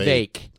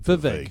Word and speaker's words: Vivek: Vivek. So he said it rhymes with cake. There you go. Thank you, Vivek.